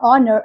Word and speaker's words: honor: So H is a silent in some words such as R, honor, and honest.